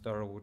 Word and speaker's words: Dharawal: institutions in McKenzie's thorough which we pronounced durable today warrawari is documented as